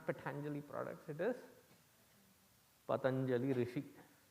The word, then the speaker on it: Patanjali: no before pani patanjali first of all it is not patanjali patanjali no for god sake you are hindu please pronounce your hindu names properly even your names not for the other's convenience pronounce it as you should be pronouncing it it is not patanjali it is patanjali because there seem to